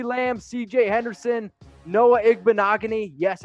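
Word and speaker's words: Igbinoghene: had C D Lam CJ Henderson Noah Eggman agony yes it's how you pronounce it and Michael Pittman jr.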